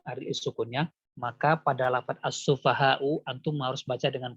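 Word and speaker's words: السفهاء: Dinabar, bacanya ditekan pada hamzahnya untuk menunjukkan bahwasanya si hamzah punya sifat syiddah. Jadi antum membacanya kama amanas sufaha. Sufaha. Jadi ditekan ya bacanya. Jangan as-sufaha. As-sufaha. Jadi seolah-olah tidak ada hamzah. Jadi untuk menunjukkan bahwasanya itu hamzah, antum harus tekan.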